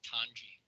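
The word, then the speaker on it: Tonge: Tongi? How do you pronounce that? Tanji, sir. T-O-N-G-E, it's Tanji.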